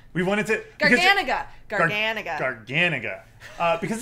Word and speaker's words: Garganega: We looked up the pronunciation. We wanted to... Garganega.